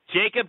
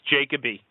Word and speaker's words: Jacoby: It's Jacoby. Okay. It's Jacob with a Y. It's Jacoby. I'm sorry. Jacoby. Or Jacoby for those that like to pronounce his name right.